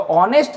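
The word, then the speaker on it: honest: अभी ये जो आपको ऑनेस्ट दिख रहा है तो ऑनेस्ट का जो पहला लेटर साउंड है वो एच क्या है? साइलेंट है। तो एच को हम लोग यहां पे प्रोनाउंस नहीं कर रहे हैं। जो पहला लेटर प्रोनाउंस हो रहा है, वह क्या हो रहा है? ऑनेस्ट ओ जो कि वोवेल है।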